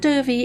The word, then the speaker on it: Dovey: Matt Dovey is very tall, very British, and probably drinking a cup of tea right now. Although his surname rhymes with dopey, any other similarities to the dwarf are sheer coincidence.